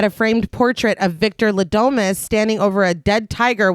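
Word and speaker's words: Le Domas: Also, super quick, their name is Ladomas, but I keep almost saying Delomas. And so if I say Delomas, no, I didn't. Okay, their name is Ladomas.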